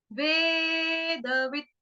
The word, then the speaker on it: वेदवित्: वेद स, वेद स, वेदवित्, वेदवित्। ठीक है, यस्तौ वेद स वेदवित्, व एद वेद, व ई आधा त, हलंत त।